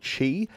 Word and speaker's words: Qi: and that was called Chi spelled Qi but pronounced Chi and apparently that's the